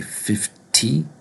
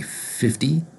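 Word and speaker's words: fifty: And 50, even though there's a T sound, or a T in 50, we don't say 50, we say 50 in American English.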